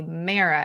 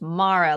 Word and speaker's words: Mara: So for Mara, I was saying, I wanted to say Mara, and then I had to be like, no, it's Mara.